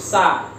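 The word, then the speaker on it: س: Ada juga huruf sin atau huruf sa, dibacanya sa, atau gampangnya sama seperti halnya kita membaca huruf S.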